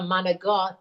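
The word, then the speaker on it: manicotti: I love a good like baked ziti or a manigot. You have to say it like that, and it's not manigot.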